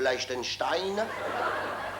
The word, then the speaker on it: Liechtenstein: La princesse de Liechtenstein.